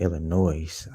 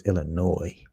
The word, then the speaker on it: Illinois: I be saying Illinois. I gotta stop saying Illinois. It's Illinois. The S is silent.